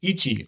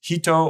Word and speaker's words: 一: the kanji for one the onio me or Chinese pronunciation is Ichi or it's uu in the kunio me or Japanese pronunciation is hito or hitotsu if you're not familiar